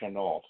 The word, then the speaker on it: Chennault: And there was a commander named Claire Chennault, that's how he pronounced his name, who was head of the American airmen attached to the Chinese Air Force fighting against Japan.